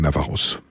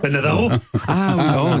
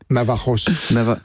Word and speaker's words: Navajos: Navaros. Dieu du ciel. Je pense que le J se prononce Navajos.